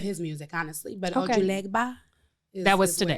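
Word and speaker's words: Ojuelegba: Ojulegba.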